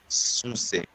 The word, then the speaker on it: succès: Mais- There's 2 C's. L'accès. Ils m'ont interdit l'accès, mais c'était une réussite, un vrai succès. Succès. 2 C's. So the first C goes with the first syllable, and the other C goes with the next syllable.